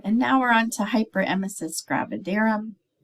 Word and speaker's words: hyperemesis gravidarum: with them um and now we're on to hyperemesis gravidarum hyperemesis gravidarum that's how you pronounce it um I've heard it pronounced many different ways but it is uh gravidarum um clinical manifestations are severe nauseum and vomiting